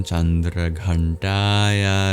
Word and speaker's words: Chandraghantayai: is dedicated to हर द मंत्र इज ओम चंद्र घंटाय नमः आई did have space today right some pronunciation point so just have to listen closely but go through them once quickly the व्स ओ एंड us well S the glide I आर all long every other vowel is short all द a then